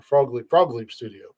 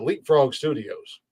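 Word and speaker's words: Frog Leap Studios: from Leapfrog Studio or Frog Leap Studio. Two fun facts. First and foremost, I said it wrong for like 4 months before Jeff corrected me. I called it Leapfrog Studios, and then finally Jeff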